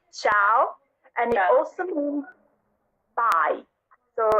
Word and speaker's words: ciao: it's not yeah okay don't pronounce the eye because the eye is silent so you would just say ciao and y'all soon bye